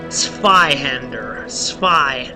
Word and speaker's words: Zweihander: plus 10, or actually, how it's actually pronounced is Zweihander. Zweihander. I don't know, I'm not very good at that.